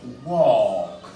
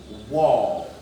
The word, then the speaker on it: walk: Donc ici, nous dirons walk. Walk. Vous voyez qu'elle est complètement absente dans la prononciation. C'est l'ignorant de la règle de prononciation qui viendra plutôt dire walk.